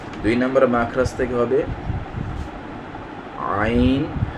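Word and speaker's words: ع: জায়গাটা থেকে উচ্চারিত হবে দুই নাম্বার মাখরাজ হালকের মধ্যখান হইতে উচ্চারিত হয় যথা আইন হা আইন হা আইন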